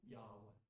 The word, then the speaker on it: Yahweh: We pronounce it Yahweh.